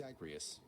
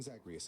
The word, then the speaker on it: Zagreus: you remember me tiffany my name is zagrius prince of the underworld pretty close with megara i guess try saying zagreus again for me pretty good nice